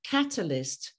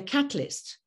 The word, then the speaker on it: catalyst: not so familiar with, like the word catalyst. They will say catalyst and skip the whole syllable, all right? But the kata is important, even though it is reduced.